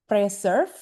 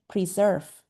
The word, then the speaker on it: preserve: So I heard somebody said uh preserf or something like that. I think and Ben and Dave can correct me on this as native speakers. I think the correct pronunciation is preserve. Preserve. So I just wrote down how you read it. Preserve.